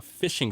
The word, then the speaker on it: phishing: So a phishing scam, and they spell it with a PH. So it's PH. PH sounds like not F.